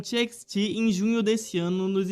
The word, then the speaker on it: TXT: grupo e até mesmo pronunciando incorretamente o seu nome, os chamando de Text ao invés de TXT.